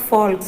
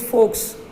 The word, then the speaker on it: folks: Fox, It is not folks, it is folks. Folks, folks. L is silent, children, so it should be pronounced as folks.